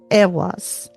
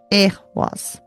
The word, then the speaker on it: Eihwaz: And then we have Eihwaz. Eihwaz.